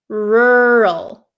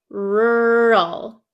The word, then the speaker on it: rural: for you okay so this word is pronounced rur rur do you see how my mouth doesn't really open or doesn't really move around that much okay rural rural rur okay so you